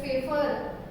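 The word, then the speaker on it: Pfeffer: तो ये जो साइंटिस्ट है वॉन हॉफ और दूसरे साइंटिस्ट हैं हमारे फेफर, पी यहाँ पे साइलेंट है और पी फिर है फेफर, FEIFFER, von half and फेफर।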